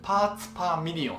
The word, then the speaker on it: ppm: けども、ちゃんと読み方がありまして、パーツパーミリオンっていうらしいです。